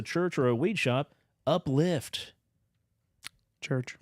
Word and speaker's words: Uplyft: It's spelled UPLYFT. Uplift.